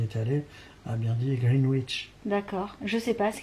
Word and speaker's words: Greenwich: Alors on m'a dit que ça se prononçait Greenwich, qu'on disait pas le W.